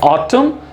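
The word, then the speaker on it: autumn: सो ऑटम, column and डैम। तो यहां पर भी देखिए एंड में N यूज किया जा रहा है, बट इसका प्रोनाउंसिएशन, इसका उच्चारण नहीं होगा। सो in this N is silent.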